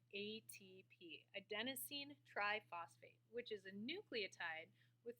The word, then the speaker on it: adenosine triphosphate: another and that molecule is something called ATP adenosine triphosphate which is a nucleotide with three phosphate groups so ATP a Denine triphosphate that's how it's pronounced and here's the molecule here now the